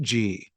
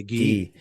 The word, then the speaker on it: ghee: I think it is pronounced G. Okay, well, let's go with that. No, ghee. It's actually ghee.